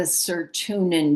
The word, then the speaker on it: Sirtuin: The next one is the Sirtuin genes.